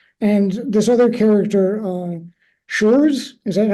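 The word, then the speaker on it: Schurz: makes under Johnson and this other character uh shures is that how you say his name yeah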